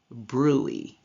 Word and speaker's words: bruit: It is pronounced bruit. And bruit is an abnormal sound made when blood rushes through a partly blocked blood vessel.